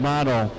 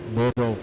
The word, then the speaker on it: Biddle: Had a bunch of smoke coming out of the back of that B55 of Nick Bottle. I'm saying it wrong, Nick Biddle, whatever, Middle. I said Biddle.